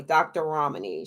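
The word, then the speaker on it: Ramani: out dr romney's video her name is spelled r-a-m-r-a-m-a-n-i dr romini she's on youtube she also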